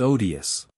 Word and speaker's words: odious: it's odious at home I had always heard the first syllable of this word pronounced with a long o like OD but M and Madam swan made it short as in odd just think of it